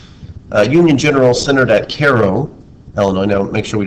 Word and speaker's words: Cairo: west than illinois uh union general centered at cairo illinois now make sure we don't pronounce that cairo cairo is in europe under a general name